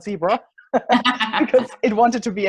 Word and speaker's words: Zebra: my American co-founders that the pronunciation is in fact zebra, not zebra, because it wanted to be international right from the get-go.